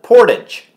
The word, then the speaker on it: Portage: Winnipeg they'll call it Portage and yes age a GE is aged but we give it the French pronunciation because we're that close